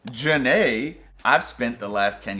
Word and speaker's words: Jhene: Apparently, it's Janae. I've spent the last 10 years thinking it was Jean. Jhene. I thought it was Jean. Apparently, it's Janae.